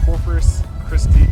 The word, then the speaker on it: Corpus Christi: place is called Sunset Ridge RV resort and Corpus christe Texas I say that right yes you said